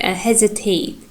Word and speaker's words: hesitate: So, and next word we have, let's take hesitate. Hesitate. Hesitate. Here you can see that the first syllable here primary.